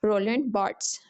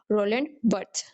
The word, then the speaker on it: Roland Barthes: American pronunciation में हम इसे बोलेंगे रोलन बर्ट्स। ठीक है? रोलन बर्ट्स। और ब्रिटिश एक्सेंट में हम इसको प्रोनाउंस करें तो आएगा रोल बर्थ्स।